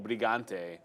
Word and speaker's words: Brigante: shout out to carito brigante is that his last name in that I didn't even know that yeah and you have to say it brigant you can't say B yes now that you